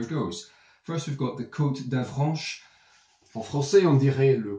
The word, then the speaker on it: Côte d'Avranches: So if you're going to do it frogly, it's Côte d'Avranche, and you know, you can Frenchify it up a little bit.